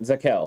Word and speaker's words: Zakelj: Zakelj. So, the J is silent. It's okay. It's a It's a soft It's not a soft J. It's a silent J.